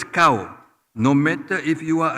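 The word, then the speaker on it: kau: you it is always it is spelled as K Au and not cow as a copy cow they will address you as cow no matter if you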